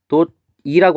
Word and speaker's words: 해돋이: 그래서 해돋이라고 했을 때 발음을 표기할 때는 해돋이라고 하지만 우리 발음할 때 야 우리 해돋이 보러 가자 이렇게 안 하잖아요. 우리 발음할 때 어떻게 해요? 해돋이 보러 가자라고 하잖아요. 그죠? 그래서 얘는 발음이 해돋이라고 이렇게 발음이 되죠.